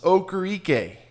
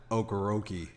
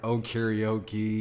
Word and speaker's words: Okoroike: What did they call you? Okoroike. Okoroike. I've heard karaoke. Karaoke.